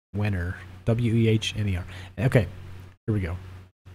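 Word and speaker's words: Wehner: This is written by somebody named Mike Wiener. Is that how you say it? Wenner.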